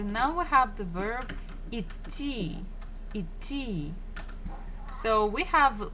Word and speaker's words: идти: So now we have the verb идти.